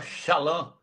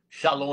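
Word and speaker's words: שלום: A palavra shalã. Shalom aí na verdade é shalã.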